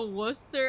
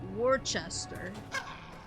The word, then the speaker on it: Worcester: People playing Fallout 4 gets to Worcester, I don't see the difference.